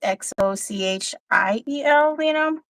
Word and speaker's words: Xochitl: Like Xochitl is spelled with an X, it's Xochiel.